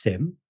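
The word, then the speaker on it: SIEM: this episode subject era so it's it's it's pronounced Sim yeah but it's spelled s i m yeah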